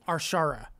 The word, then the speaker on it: Arshara: And a quick correction, Arshara. So I'm hoping I'm saying that now. Arshara. Correct.